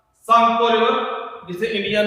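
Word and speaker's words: Tsangpo: देखो, जितना टाइम जो सांगपो रिवर, टी इसमें साइलेंट है, सांगपो रिवर हिमालय में या तिब्बत में फ्लो करता है तब तक इसका नाम सांगपो रहता है।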